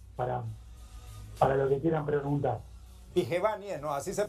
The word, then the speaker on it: Vigevani: Sí, es Dicevani, es muy italiano, entonces. Dicevani. Pero en castellano lo pronunciamos, en español lo pronunciamos mejor como Dicevani.